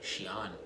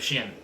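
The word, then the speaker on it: Xi'an: an PR like an the apostrophe helps guide English speakers in pronouncing the name more accurately Shian instead of shien oh shien Shen Shan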